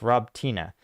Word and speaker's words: Robotyne: maybe David Molinaro says Paul Slavic words ending in an e having uh sounds so robtini is pronounced Rob Tina so satovia is pronounced